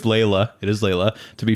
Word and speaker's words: Laila: up Layla pronunciation General in English it would be said as Layla let's go so much